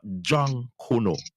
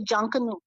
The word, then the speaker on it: Junkanoo: But people, what we've been taught about, it is not Jankono, as how you hear the pronunciation is. Tell us the right pronunciation for that name again. Well, in the Bahamas, we say Junkanoo.